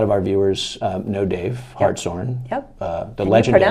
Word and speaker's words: Hartshorn: So you met, I'm sure a lot of our viewers know Dave Hartshorn. Yep. The And legendary. you pronounced it correctly too.